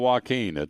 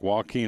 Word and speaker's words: Joaquin: a matter of fact joaquin and duhar for the saint louis cardinals spelled it the same way and so it was always phonetically w-a-h-k-e-e-n so hurricane joaquin may